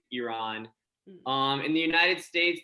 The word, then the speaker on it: Iran: a lot of like iran iran um iran not not exactly not exactly how it's pronounced yeah the the correct way of saying it is iran um in the united